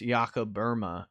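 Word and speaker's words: Jakob Böhme: tradition uh yakaburma uh looks like jacob bohemma so it's b-o-e-h-m-e but from all the germans i've heard say his name there's an umlaut over the o and it's iaco burma is from my understanding but uh jakoba is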